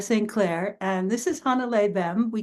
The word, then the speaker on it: Hannele: Something more Yeah, like more emphasis on the beginning of it. Yeah. yeah. You put the emphasis on the first syllable. So Yeah. Hannele.